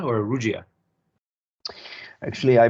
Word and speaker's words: Rugia: Now, is it pronounced Rugia or Rugia? Actually, I pronounce it Rugia, okay, Rugia.